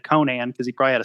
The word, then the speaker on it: Conan: they always call him Conan or Conan it's the only the person I know yeah I mean I mean Howard was an American so in American it it it's Conan I think now you know